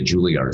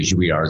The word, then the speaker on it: Juilliard: this place called the Juilliard School in New York. And I didn't even know how to pronounce it. I thought it was the Juilliard School. I thought it was French.